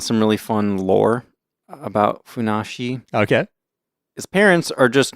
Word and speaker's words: Funassyi: I also found some really fun lore about Funassyi. Okay. His parents are just normal pear trees, and it's the fourth of 274 children. Okay. Apparently, there's something about 274. You can pronounce that as Funassyi.